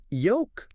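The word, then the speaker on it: yolk: But it's just yoke. Yoke. Yeah. K. V. That s is silent.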